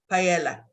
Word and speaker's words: paella: pelia loca means crazy paella so in spanish the double l pronounces like a y paella paella yeah yeah right right